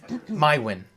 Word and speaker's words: Maiwenn: My win. My way. How do you spell that, darling?